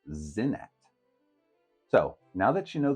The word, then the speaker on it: Senet: of ttin common it could have been pronounced sa and a thousand years earlier at the time of the period Builders it may have been pronounced zenet so now that you